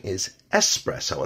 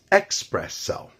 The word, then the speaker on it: espresso: The correct pronunciation is espresso, and that's just the way it is exactly pronounced in Italian. Some may hear it mispronounced as expresso.